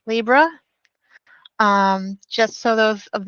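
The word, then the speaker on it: Libre: at is Libra office um Libra office is pronounced Libra um just so those of us that don't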